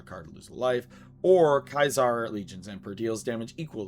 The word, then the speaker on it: Caesar: Caesar or sorry, I'm going to pronounce it the correct way, Kyzar Legion's Emperor.